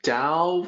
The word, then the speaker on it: 大: and the central theme can be called the dao of greatness so let's focus on that character